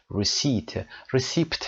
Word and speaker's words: receipt: رسیت رو تلفظش رو هم دقت داشته باشید و نگارشش حتما. دوستانی که با فایل صوتی گوش میکنن R-E-C-E-I-P-T receipt نوشته میشه اما receipt خونده میشه.